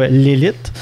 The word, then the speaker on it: Lelit: déjà c'est pas souvent donc mettre d'accord s'est prononcé comme fo l'élite dans le fond on va juste faire un